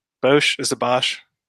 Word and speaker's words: Bosch: Bosch, is it Bosch? Bosch, yeah.